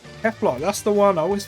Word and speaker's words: Kefla: there's also this uh no i said it wrong it's not kale what am i doing kefla that's the one i